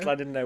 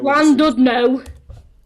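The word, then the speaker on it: Llandudno: You just pronounced Clandidno. Landudno. Oh dear.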